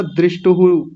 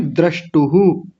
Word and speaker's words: द्रष्टुः: आपने बोला दृष्टुहु, दृष्टुहु नहीं, द्रष्टुहु। द्रष्टुः। हाँ जी, और योगश्चित्त में आपने श छोड़ दिया था, योगचित्त ऐसा कुछ बोला था, योगश्चित्त ऐसा बोलिए।